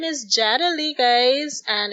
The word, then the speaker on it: Yadali: i'm just gonna remind people my name is jada lee guys and it's spelled y-a-d-a-l-i you can find me across all